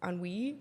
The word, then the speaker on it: ennui: Ennui. It's ennui.